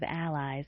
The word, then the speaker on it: allies: The first sound of allies is a written in the international phonetic alphabet with this symbol often times referred to as ash. A is the initial vowel sound in the name Adam. It is also the vowel sound in the words cat and bad.